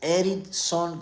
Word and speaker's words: Eridson: It's spelled like look. It's like Ericson. like Ericson, but instead of the CK, the letter D as in David.